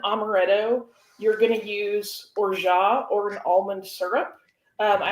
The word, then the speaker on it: orgeat: But orgeat, in case you don't know, you'll sometimes also hear people call it orgeat or other pronunciations, but it's basically a French.